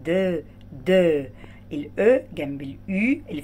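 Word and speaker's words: deux: اكس في الاخر دي لا تنطق، يبقى دو.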